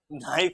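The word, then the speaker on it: knife: Night तो होगा ही नाइफ होगा। क्या होगा? नाइफ। नाइफ में क्या है बेटा? साइलेंट है।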